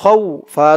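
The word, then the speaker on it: خَوْف: খ ওয়াও জবর খৌ, ফা দুই জের ফিন, খৌ ফিন। অক্ফ করার কারণে উচ্চারণ হবে খৌফ।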